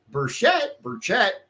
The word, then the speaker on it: Burchett: But this man, Burchett, however you say his name, how do you think it is, you said?